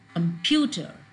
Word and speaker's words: computer: pronounce it more long for example computer so q is pronounced longer in comparison to tur or it's louder computer pew is louder than any other syllable it has a change